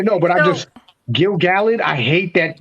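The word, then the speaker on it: Gil-galad: Yeah, no, but I So- just Gilgalad. I hate that pronunciation of it, even though I know it's correct.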